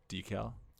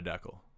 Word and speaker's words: decal: vehicle or on a window decal yes not a deckle a deckle yeah that's someone who incorrectly